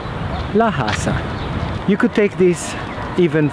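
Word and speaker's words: la casa: Florentine dialect is that people in Florence don't pronounce a hard sounding SE when it's follow followed and preceded by a vowel for instance the word Casa which in English translates into house is pronounced Casa however if you were to put the article in front of it which in Italian is La English the it would sound laasa you could take this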